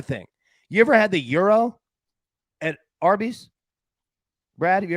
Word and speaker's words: gyros: It's Euro or hero.